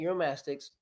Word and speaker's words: Uromastyx: eurom mytic am I saying it right ornate eurom mastics ornate eurom mastics yep what specifically are you breeding for right